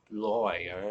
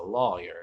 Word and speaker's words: lawyer: boy it's not a lawyer it's a it's a lawyer rhymes with flaw yeah exactly it's a